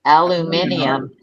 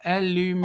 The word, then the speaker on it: aluminium: m i n there's you're adding an extra syllable. Aluminium. No, we're not. There's an extra you're putting an extra vowel in there. And there's pronouncing the letters as they are. Aluminum.